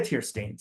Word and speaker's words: Teirstein: Teirstein. I'm sorry, I didn't ask you beforehand. Did I pronounce that last name right? Yeah, perfectly.